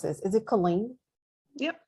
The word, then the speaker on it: Killeen: It is located, and I always mispronounce this. Is it Killeen? Yep, Colleen.